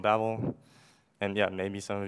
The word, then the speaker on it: Babel: So it's Babel. I mean, I don't really care how you say it, but that's how we do it. And then Sebastian, who's the creator of Babel, he like basically recorded himself saying it.